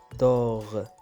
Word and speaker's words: dehors: خارج dehors dehors. يعني هنا كذلك عندي اس على fin ما تنطقش. يعني الأغلبية اس على fin لا يتم نطقه.